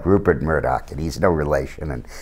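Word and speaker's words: Mourdock: m o r d o c k it's pronounced like ruper Murdoch and he's no relation and I didn't think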